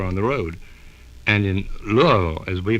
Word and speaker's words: Louisville: And in Louisville, as we pronounce it, in Louisville, in those days, there were touring companies, and